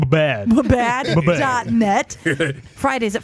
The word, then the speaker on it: WBAD: Don't forget, we're also available at WBAD Radio at Karen, that's pronounced bad.